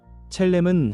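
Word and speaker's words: צלם: 여기서 형상이라는 말은 히브리어 발음으로 첼렘입니다. 첼렘은 하나님을 닮은 모습, 하나님의 성품과 영광을 반영하도록 지음받았다는 의미입니다.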